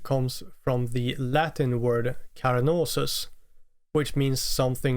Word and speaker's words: Carnosus: Oh, and by the way, I'm aware that I pronounced the Latin word like Carnosus, but the band's name more like Carnosus, which is clearly a more English sounding pronunciation.